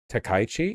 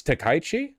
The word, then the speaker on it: Takaichi: Takaichi? It's Takaichi? Oh, I thought with with k a i you would pronounce the the vowels separately.